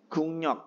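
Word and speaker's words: 국력: guknyon guknyok guknyon guknyok karena gek ketemu dengan R rnya berubah menjadi n Nah setelah guknyok Nah ada huruf gek ketemu dengan n dibacanya menjadi Eng menjadi Gung gungnyok Nah gungnyok itu kekuatan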